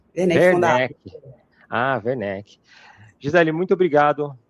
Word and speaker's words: Werneck: É Werneck a pronúncia? É Werneck. Werneck Fundado. Werneck.